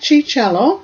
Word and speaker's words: Ciarciello: We have Mike Cicello, that's spelled Ciarciello, and Mike lives and works in Montreal.